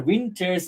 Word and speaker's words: winter: Of your winter's grief. This is the first one, of your wind. Winter normally has a first stress on the first syllable, wind.